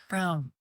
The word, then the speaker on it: Braun: Brown. It's spelled like Braun, but it's pronounced Brown. Brown, thanks.